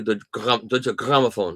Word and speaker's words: Deutsche Grammophon: A lot of the readers have, and they've made it known to the team at Deutsche Grammophon that they, how do you say that correctly? Deutsche Grammophon.